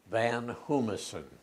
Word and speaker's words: Van Hoomissen: what is your name my name is van hummerson could you spell it is the last name is